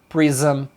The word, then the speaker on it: prism: Esse ISM eles pronunciam isam.